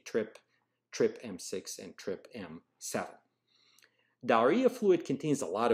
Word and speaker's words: TRPM: is via two channels trip m6 and trip m7 so trpm is pronounced trip m and the full name